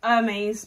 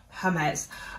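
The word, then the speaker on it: Hermès: I was about to say Hermes, but it is Hermes. Um Hermes with an E, a silent e that they just didn't want to put on there.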